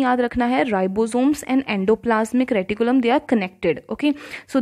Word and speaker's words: endoplasmic reticulum: Second organelle is endoplasmic reticulum. Please try to pronounce it properly.